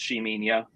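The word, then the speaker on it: Ximenia: I know our uh shaminia oil that's uh the one with an X um but it is pronounced sheminia um that one has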